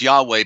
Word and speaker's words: Yahweh: YHVH is is y'all they pronounced as Yahweh but there is no W you see the W